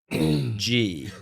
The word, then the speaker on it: Gee: to reframe your questions now, knowing that it's pronounced G. Yeah. Instead of Right. Gee. Yeah. I can't. Maybe Zach introduced you as Donald. It could have But been. now I I mean, can't remember ghee which is one's right.